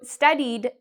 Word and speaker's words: studied: So studied ends in this E sound. So we actually would pronounce ed like a D sound, studied.